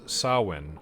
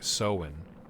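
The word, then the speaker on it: Samhain: Sowin. So I think it was Sawin or something. I'll check. Sowin. So as in sow seeds, and then when.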